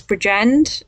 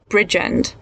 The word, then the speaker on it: Bridgend: impressed though that you managed to mispronounce bridgend which which i didn't think you'd have trouble with because you said kept saying bridge end like in it this